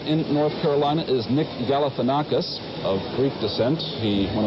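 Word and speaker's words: Galifianakis: North Carolina is Nick galanakis of Greek descent he one of his biggest problems in the campaign was to teach voters how to pronounce his name it is galopus and as of now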